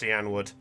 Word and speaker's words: Cianwood: was home to chat it's pronounced cianwood for the record that's how it that's how i pronounced it ah i didn't hear the wood part sorry okay i went